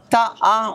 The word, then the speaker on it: TĀ: Les sportifs, je suis au stand de Taha. On prononce Taha? Ta. Classique. On prononce Ta, facile.